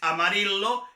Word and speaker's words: Amarillo: general para nuestro curso, la podemos pronunciar como ya, ye, yi, yo, yu.